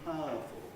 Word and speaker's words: powerful: what i do is i compress uh smooth out a bit that sequence so i practically lose the it in fire fireman and i practically lose the up in powerful not our but powerful no smoother pronunciation other normal